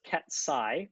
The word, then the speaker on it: ket: out this Vector so I'll pronounce this Ki by the way that's what that character is Ki you might think that